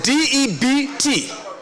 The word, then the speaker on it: debt: And so the next word is d ebt.